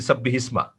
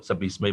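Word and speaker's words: سَبِّحِ اسْمَ: ওখানে কিন্তু আমরা বলছি সাব্বিহিসমা। কিন্তু আসলে তো সাব্বিহ হচ্ছে একটা আদেশ, তারপর হচ্ছে ইসমা। হ্যাঁ, উচ্চারণ করার সময় আমি টানেই বলবো, সাব্বিহিসমাই বলবো, কিন্তু এটা তো আমাদের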